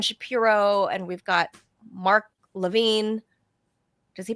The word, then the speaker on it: Levin: So, uh Robbiey's saying Lavin. N that's He's What is it, Robbie? Maybe he's mispronouncing his own name. You know, some people do mispronounce their own names. It's It's Lavin. Lav.